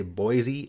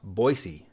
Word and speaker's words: Boise: of Americans pronounce wrong most people including myself say Boise as if the S is a z but it's actually pronounced Boise and the people from